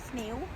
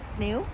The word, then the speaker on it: sneeuw: Sneeuw. Is it pronounced like that? Sneeuw.